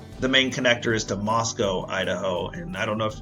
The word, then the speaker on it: Moscow: And the reason Moscow is significant and a lot of people call it Moscow, but it's not like it's not like Russia.